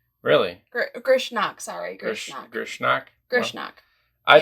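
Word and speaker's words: Grishnákh: to pronounce I have no idea how to pronounce that guy's name. Grishank. Really? Grishnak, sorry.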